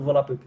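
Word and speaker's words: Volapük: exemplo a própria palavra volapuk né volapuk na pronúncia correta do volapuk eh ela quer dizer fala Mundial né Eh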